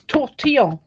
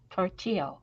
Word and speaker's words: tortillon: The correct word for them in French is tortillon or paper stump. Say it again. Tortillon. Tortilla. Like tortilla? No, I like in tortillon, but it's pronounced tortillon. Tortillon. Oh, there's an N in there at the end.